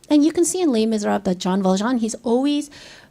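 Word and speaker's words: Les Misérables: 내가 오늘 발음 레미제라블 그러니까 이 발음이 잘 안 됐대. And so you pronounce it Les Miserables.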